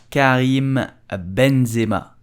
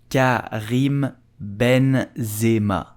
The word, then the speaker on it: Karim Benzema: So how do you pronounce Karim Benzema? You will say Karim Benzema. Karim Benzema.